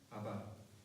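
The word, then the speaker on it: אבא: 아바. 네. 근데 굉장히 비슷하죠. 아빠, 아바. 굉장히 발음이 비슷합니다. 정확하게 발음하면 아바가 되는데, 우리나라 아빠하고도 굉장히 비슷하죠.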